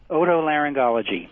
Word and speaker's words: otolaryngology: welcome aboard doc hello sir how do you pronounce that very long word otolaryngology so i thought all right auto laryngologist your